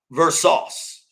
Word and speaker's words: Versace: Blue Versace. Okay, did I get that right? I hope I did. Blue Versace. I'm sorry, dude. I'm sorry. It's Versace.